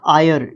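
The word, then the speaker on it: heir: खरगोश को ठीक है उसके बाद आयर इसको आयर प्रोनाउंस करते हैं एच ई आई आर आयर इसका मतलब क्या होता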